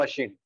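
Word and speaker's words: machine: हम कहेंगे ऑल उस लास्ट एग्जाम पर स्विंग मशीन ठीक है यह सिलाई मशीन की बात कर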